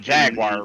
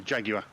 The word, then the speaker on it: Jaguar: in the beginning of the movie in that Jaguar, right? Yeah, No. You're not saying that word right. It's right to an American. It's a Jaguar.